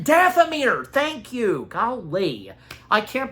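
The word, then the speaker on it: Dathomir: Yeah, Anchorman, I don't suppose you know you know how the home planet of Ventress is specifically pronounced, do you? Datamir. Datamir. Datamir.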